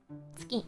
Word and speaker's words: 月: Tsugi with a soft G. No, it's tsuki with a hard one. Ki. Tsuki.